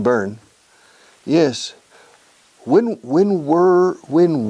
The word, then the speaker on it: Bern: the capital of Switzerland Berna yes in English Bernie pronunciation burn yes when when were